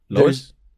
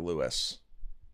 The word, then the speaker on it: Lewis: Lois? Am I saying it wrong? Lewis and Clark. Lois and Clark. I thought it was Lois and Clark. Lois and No, Clark. it's Lewis.